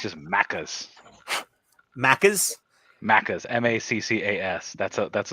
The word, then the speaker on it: Maccas: McDonald's it's uh I think it's just macas maccas maccas m-a-c-c-a-s that's a that's what they call